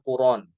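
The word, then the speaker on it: قرآن: 185 syahrad dibac ya setiap lafaz Alquran kalimat Alquran atau tanpa alif lam Quran Quran dibaca dengan Quran Nah itu di anara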